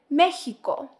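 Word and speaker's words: México: or the sh sound for example the word Mexico is said mexo now let's practice these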